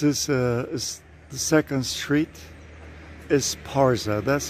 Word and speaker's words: Esparza: coming into town it's a big place nowadays esporsa was named after a spanish city in the basque country and this is another old house this is uh the second street is parza that's how it's pronounced you can see it's also very typical